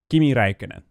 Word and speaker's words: Kimi Räikkönen: Kimi Räikkönen.